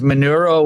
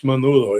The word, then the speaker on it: Menudo: Is manuro what I think it is? Manuro, Menudo, Manuro? not Manuro. Oh, okay. Never mind. Not spelled with an R. Oh, okay. No, it's Menudo.